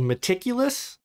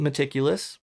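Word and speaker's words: Metaculus: and it's a website that Max built called meticulous I think that's how you pronounce it but it's spelled like metaculous m-e-t-a-c-u-l-u-s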